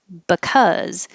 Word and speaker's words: because: Ah, cause, which is different than the word because. The BE changes to buh because it's not stressed. And that gets really short, buh, buh. And then the word that